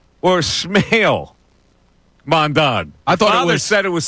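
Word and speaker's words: Smael: I thought it was Sale Mondon. That's what I thought it was. Sale Mond. But he said pronounced Smile.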